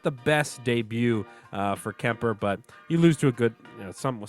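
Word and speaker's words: Kuemper: uh our new goaltender Mike you say it's Kemper right that's how you pronounce it okay yeah I I know you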